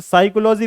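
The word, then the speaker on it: psychology: जैसे साइकोलॉजी पी से शुरू हो, साइकोलॉजी एस से नहीं बल्कि पी से शुरू होती है, तो ये पी साइलेंट है।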